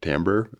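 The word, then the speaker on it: TMBR: the E uh and then everybody pronounced it Timber we just got tired of correcting them so we just kind of called it Timber but Pera actually named it tamber um so we joke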